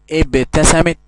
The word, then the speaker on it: ابتسمت: نلاحظ يا أبنائي أن كلمة ابتسمت الألف ما عليهاش همزة، ما تحتهاش همزة. أيوة أنطقها ابتسمت، ولكن ما ينفعش أحط همزة. ليه؟ لأن دي ألف وصل. طب أعرف أفرق إزاي في الكتابة بين ألف الوصل والألف التانية اللي هي همزة قطع وهمزة وصل؟ أحط قبل الكلمة واو. لو الألف اتنطقت معايا يبقى دي ألف قطع، همزة قطع، وإن سقطت وسط الكلام فهي همزة وصل.